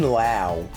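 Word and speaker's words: Lowe: I need that Brandon Lao that's so odd how you pronounce that name like instead of being like Josh low and Nate low it's loud I get it oh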